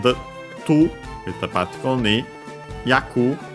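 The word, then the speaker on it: 役: Yaku on its own should be accented. The syllable it is.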